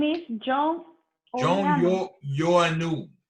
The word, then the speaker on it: Ioannou: Yoanu. Mm-hmm. It's spelled IOANNOU. Yoanu.